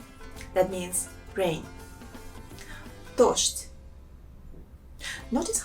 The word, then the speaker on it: дождь: And the first word is дождь. That means rain. Дождь. Notice how I pronounce some sounds. For example, this sound Z. In this word, I pronounce as sh. And D, I pronounce it as t.